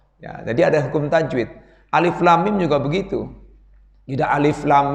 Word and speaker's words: Alif Lam Mim: Nah, cara baca dengung ya 2 harokat minimal, maksimal 3 harokat. Alif lam mim.